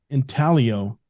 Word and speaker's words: intaglio: I like the idea of having prints to sell, but I also want to offer intaglio printing. Is that how you say it? Intaglio? How do they say it? Intaglio.